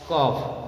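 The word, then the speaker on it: cough: तो vowels letters, तो जी एच का प्रोनाउंसिएशन जो होता है एफ के जैसा होता है, जैसे लाफ, टफ, रफ, कफ, समझ लगा ना।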